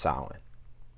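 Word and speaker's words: Samhain: pagan festival called Salin I know that that word is not pronounced how it looks trust me I had the same reaction but yes it's pronounced silent Halloween is one of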